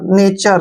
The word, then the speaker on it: nature: यहाँ पर एक चीज आपने ध्यान रखनी है, देखिए जहां भी लास्ट में TURE आए उसका उच्चारण आपने ट्यूर नहीं करना है, चर करना है। देखिए अभी पढ़ेंगे इनको। NA का उच्चारण हम क्या करेंगे, ने, ठीक है, और TURE को हमने चर पढ़ना है, ट्यूर नहीं पढ़ना है, चर।